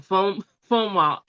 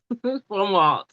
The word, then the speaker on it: Fomalhaut: is uh I got to break it down Fomalhaut. Fomalhaut. And it's spelled f o m a l h a u t.